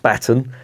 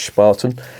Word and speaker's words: Spaten: they've got on there Spartan in case you're wondering is not pronounced spaten as the little Welsh fell calls it it's Spartan and it means uh shovel